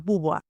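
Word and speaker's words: Beauvoir: Simón de Bobió. ¿Qué? ¿Cómo estamos? A cuestiona profundamente el rol femenino de la época. Sí, creo que es Buboar, ¿no? Es Buboar. Simón de Buboar, algo así.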